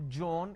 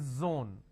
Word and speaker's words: zone: it's zebra it's not John it is Zone it's not Jill it is Zeal it's a z sound another mistake that people